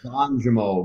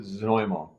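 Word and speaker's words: Znojmo: Yeah, it looks like it's Zanjimo, but yeah, you pronounce it Zanoymo.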